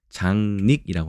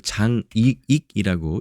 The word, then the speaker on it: 장닉: 그래서 남이 알 수 없도록 감추어서 숨기는 것을 장닉이라고 합니다. 이것을 장익이라고 읽지 않도록 조심해야겠죠. 왜냐하면 이게 닉이니까요. 그 단어의 맨 첫 머리 두음에 오지 않는 이상은 닉이라는 이 발음을 지켜줘야 됩니다.